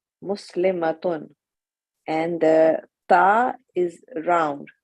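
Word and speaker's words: مسلمة: In pronunciation, the only difference between the singular and the plural is the shortness and length of a. Muslimatun, muslimatun. Excellent.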